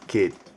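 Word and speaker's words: keet: 1 to 10 so the word for one is kid kid and that is spelled k e e and T kid kid and then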